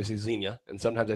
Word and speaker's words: Xenia: the mispronouncing things give I see Xenia which is not how it's pronounced I say that all the time it took me like a year to realize it too just sounds better how do you say it I sold some time Xenia and sometimes I say